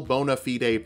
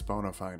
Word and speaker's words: bona fide: determine whether or not you are a real bona fide prince i know it's bona fide i pronounced it wrong on purpose second level warlocks